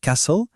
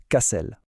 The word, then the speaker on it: castle: On retrouve ce même piège avec castle. On a tendance à dire castle, mais non. Le T est en fait silencieux. La bonne prononciation, c'est Cassel.